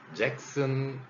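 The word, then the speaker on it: Jackson: 그래서 잭슨 이렇게 발음하죠. 잭손도 아니고 잭선도 아닌 잭슨으로 이렇게 소리가 달라졌습니다.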